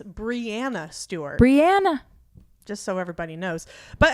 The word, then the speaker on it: Breanna: Because yeah, everybody deserves to have their name pronounced correctly. It's Breanna Stewart. Breanna.